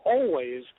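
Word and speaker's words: Alvvays: And by the way, I think they pronounce their name Always, even though they spell it A-L-V-V-A, which is very stupid.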